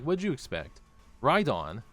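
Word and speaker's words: Rhydon: Rydon rhymes with Groudon.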